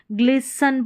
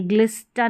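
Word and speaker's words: glisten: ग्लिसन पढ़ेंगे, ग्लिस्टन नहीं।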